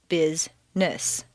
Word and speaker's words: business: For example, business is not business, but rather business.